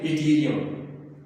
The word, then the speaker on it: Yttrium: तो dear students जो Y है इसको अगर आप कंप्लीट लिखना चाहें YTTRIUM, तो डियर स्टूडेंट्स वाई को जब आप प्रोनाउंस करेंगे इथीरियम आई के बाद, तो इन्हें हम कहते हैं।